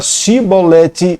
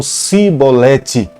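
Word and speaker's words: shibboleth: não eram e Planetas por mais que tentassem falar ch eles acabavam dando uma ênfase no s e quando se falava pronuncia a palavra shiboleth eles falavam cebolete e com essa forma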